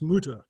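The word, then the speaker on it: multure: of Tarradale with its mulchers and croft, 33 shillings and 4. Now, I've said the word mulcher. In Scotland, it's pronounced mutter, but a mutter was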